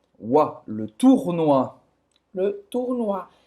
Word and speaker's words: tournoi: E o tournoi, o OU tem som de U. E no final, o OI tem som de Wa. Wa. Le tournoi.